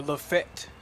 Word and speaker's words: Lafayette: We had a little laugh about how to pronounce Lafayette. Or Lafayette, depending on where you're from.